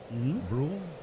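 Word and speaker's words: Bruihl: The left-hander Brew delivers low and outside. Am I pronouncing that name properly? It's B R U I H L Brew.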